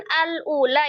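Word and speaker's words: الأولى: Kan alula itu pertamanyaah, keduanya lam. Ah, maka kalau huruf keduanya adalah lam, otomatis hamzahnya jadi fathah. Maka dibacanya al ula.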